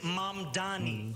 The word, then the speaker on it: Mamdani: and younger progressives like M Donnie, a state assemblyman and a self-described Democratic socialist. The name is M Dani. M A D A N I. You should learn how to say it.